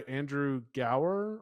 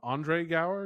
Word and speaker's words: Andre Gower: Uh, Sean's played by Andrew Gower. Andre Gower, excuse me. That's pronounced.